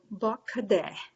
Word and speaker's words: bakade: phonetics that we use the a's sound like uh and the e sounds like e so bakade is the word and